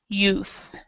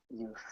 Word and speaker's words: youth: difficult but you have the th goes out of your mouth myths my and the same as youth so this word you you would say the word you and then add th youth youth youth okay and um yeah